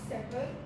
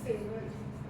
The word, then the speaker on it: savor: You said sever when you were saying the word savor.